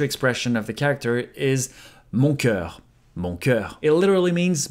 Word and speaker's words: mon cœur: When he says it, sometimes his pronunciation is impeccable, but sometimes it sounds a bit more like mon corps, which actually means my body. Look at you, mon coeur.